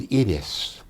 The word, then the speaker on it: Iris: the show called Idis spelled I spelled Iris like the flower but it was Idis for them Iris of the camera